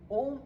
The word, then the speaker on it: ओम: ओम इट्स a wonderful exercise और इसके लिए लंबी सांस लेना है और आधे समय ओ का उच्चारण और फिर जैसे आप लिप्स बंद करेंगे तो वो म का उच्चारण होगा और पूरा ब्रीद आउट करना है।